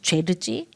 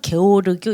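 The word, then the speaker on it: György: 저 사람은 뭐 루카찌, 죄르지 뭐 또 뭐 독일식으로 읽으면 뭐 게오르교 이렇게 읽기도 하더라고요. 근데 이제 보통 죄르지라고 발음 좀 이상하죠.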